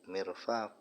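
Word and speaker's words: مرفق: Adapun dua siku-siku itu tatniatu mirfaq. Itu isim tasniah daripada mirfaq. Cara bacanya bikasril mim dengan dibaca kasrah mimnya. Mirfaq wa fathil wa fathil fa dan dibaca fathah huruf fanya mirfaq wa aksuhu dan kebalikannya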